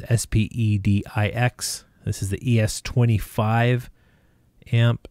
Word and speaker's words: Spedix: As far as ESCs, this is the Spedix, or however you want to pronounce it. It's Spedix.